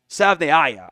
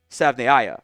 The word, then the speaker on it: Savaiinaea: pronounce this correctly because Jonah at his podium session kind of was asked about his pronunciation and says it's Savaiinaea, I think is how it's actually pronounced, not Savaiinaea as some others said, as the actual Arizona State pronunciation, or Arizona pronunciation guide had said. I think it's Savaiinaea, I think is how you actually pronounce that one.